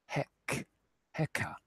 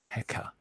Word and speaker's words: Heka: So here we've got Heka, which is the Egyptian spelling and pronunciation of this shepherd's staff symbol that we were looking at just a little while ago. Heka.